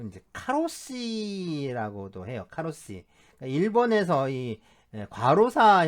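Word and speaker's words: 過労死: 나오다 보니까이 과로사 자죠 과로사의 그 번식 발음이이 카로 씨예요 카로시 그래서이 카로가 국제적인 용어가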